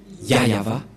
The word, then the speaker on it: Yahvah: ne voit rien et donc c'est bien la prononciation de son nom yava voilà le et voilà la suite aprèsa voilà